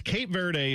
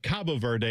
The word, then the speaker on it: Cabo Verde: I always went with Well, it's Cape Verde is what people say, but then I saw on the thing they have Cabo Verde.